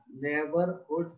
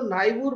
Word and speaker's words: neighbourhood: नेबरहुड children, इसको नाइबूर मत पढ़ना, ये नेबर का उच्चारण लाता है NEIGHBOURHOOD।